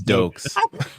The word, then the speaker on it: Dokes: I said Stokes at first because I mispronounced it. Then I said it's Dokes.